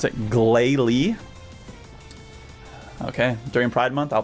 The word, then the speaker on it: Glalie: You pronounce it Glalie.